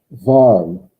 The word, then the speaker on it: warm: warm. I'm trying to give you easy ones because it's the same word in German and English. W-A-R-M. Yeah. But the W is pronounced like what? V. Like a V.